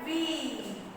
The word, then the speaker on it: wheel: W-H-E-E-L. Wheel. Wheel. H is again silent, children. H is what here? H is silent. Wheel. We pronounce wheel.